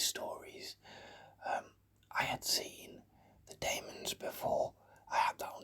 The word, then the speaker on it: Daemons: I pronounce it the Daemons. I know some people say the Demons. I say the Daemons.